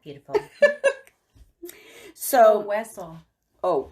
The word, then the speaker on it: Hueso: Cayo Heso. That's beautiful. Which means Isle of Bones. That's not beautiful. So, Hueso. Oh, Hueso. The H is silent. Yes. Sounds like a W.